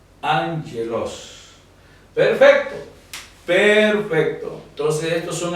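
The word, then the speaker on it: ἄγγελος: Establece que en presencia de doble gama la primera gama tendrá sonido de n como que fuera una ni y la segunda sonido de entonces en vez de decir a veloz la palabra se pronunciaría and hielos angelos porque esta se transforma en N el sonido el sonido de n y el sonido de la que funciona como una consonante angeloz angeloz Perfecto perfecto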